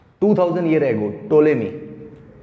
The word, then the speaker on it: Ptolemy: टोलेमी, PTOLEMY, P silent इसमें।